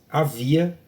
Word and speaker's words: havia: A palavra havia também não produz fonema, é um H mudo, somente a palavra chuva tem dígrafo.